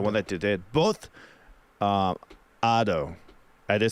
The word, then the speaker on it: Ado: Oh, they're pronounced like in Spanish?